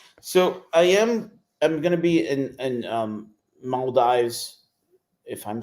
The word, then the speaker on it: Maldives: So I'm gonna be in Maldives, if I'm saying it correctly. Maldives? Am I saying it correctly? Maldives.